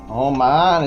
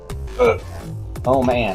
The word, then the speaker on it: Oman: down to Qatar and Oman. Oman and Yemen, my favorite two countries. Oman, it's Oman. Oh man.